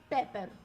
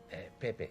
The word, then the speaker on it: Pepe: As Constance pours her aching heart, she mistakenly mispronounced Pepe's name. Pepper. Pepe.